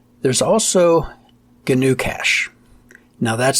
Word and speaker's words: GnuCash: There's also GNU Cache. Now that's spelled GNUCASH. GNU Cache.